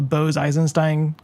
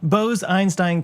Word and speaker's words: Bose-Einstein: of exotic matter called a Bose Eisenstein or boy bose-einstein condensate I put the wrong syllable in the wrong place and yeah so it